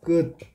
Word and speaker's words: 끝: 자, 끝. 발음이 중요하다 그랬지? 발음을 이렇게 하면 되고, 자, 끝을 발음하면 표기는 티읕이지만 발음은 디귿으로 발음 되지.